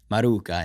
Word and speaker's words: Maruca: Maruca. Is that how you say it? Yeah. All right. Maruca in Italian.